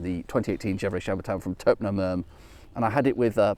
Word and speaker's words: Taupenot Merme: This is, I'm sure I always mispronounce this, I want to call it Taupenot Meme, but it's something more like Taupenot Merme.